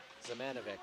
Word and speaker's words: Zamanovic: Zamanovic is the correct pronunciation on that.